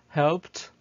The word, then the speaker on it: helped: After verbs ending in p sound, the p sounds, for example, we have here helped. So we say helped, and this is the phonetic transcription of the verb.